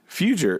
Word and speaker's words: Feuger: Hey, thanks for the good pronunciation. A lot of people get that wrong. Even that have known me as long as you have. They Feuger, whatever, but you nailed it. Feuger. It's like I say it like it's spelled.